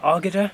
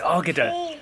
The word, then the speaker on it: Águeda: I really enjoyed going to Águeda. I think it's Águeda. We're still not 100. Águeda. Águeda. Yeah, like I said earlier, we've always said Águeda, but apparently you don't pronounce the U, according to Sophia, our Portuguese teacher.